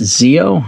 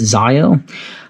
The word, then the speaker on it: Zio: a text message and I believe this is pronounced Zeo I don't think it's Zio uh an XT monitor